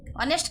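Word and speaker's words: honest: लेकिन एच उसमें साइलेंट है। ओ से प्रोनाउंस होता है।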